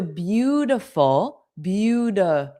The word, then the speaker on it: beautiful: So we already learned that the T between two vowel sounds is a soft D. So beautiful. Now you know why it's not but T is but now we're focusing on reduced or dropped vowels.